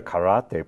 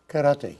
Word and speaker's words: karate: I love the way you say it right, karate. Karate, you said it right. Americans go karate. Oh. In Japanese, it's karate, and yes.